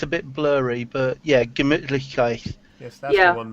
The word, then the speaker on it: Gemütlichkeit: it's a bit blurry, but yeah, Gemütlichkeit. Yes, that's Yeah. the one, Meki. I can pronounce it.